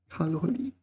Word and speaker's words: 卡路里: 卡路里.